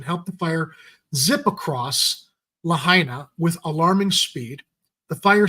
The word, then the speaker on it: Lahaina: The blazes ballooned and by late morning had spread to, I keep mispronouncing it, Ed, Lahaina. Because I keep wanting to say Lahaina.